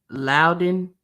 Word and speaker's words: Loudon: Loudon. Oh, that's how you say it. Everyone gets it wrong.